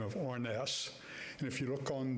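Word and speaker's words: Harness: Now, I understand from a fellow by the name of Orness, and if you look on the tags, name tags, you'll see an Orness, H-A-R-N-E-S-S. The H is silent, and that lady is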